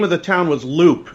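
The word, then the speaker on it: Leupp: of the town was loop it's pronounced loop but it's spelled le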